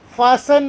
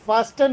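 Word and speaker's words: fasten: seat belt ಧರಿಸಿ please ಫಾಸನ್ ಅಂತ ಹೇಳಿದೆ ನಾನು ಎಫ್ಎಎಸ್ಟಿಎನ್ ಫಾಸ್ಟನ್ ಅಲ್ಲ ಇದಕ್ಕೆ ಇಂಗ್ಲಿಷ್ನಲ್ಲಿ ಫಾಸನ್ ಅಂತ ಉಚ್ಚಾರ ಮಾಡ್ತಾರೆ ಟಿ ಸೈಲೆಂಟ್ ಇದೆ ಫಾಸನ್ ದ ಪೈಲಟ್ ಇಸ್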